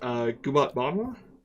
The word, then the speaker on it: Gubat Banwa: And you told me the pronunciation earlier. I am going to try my best. Gubat Banwa.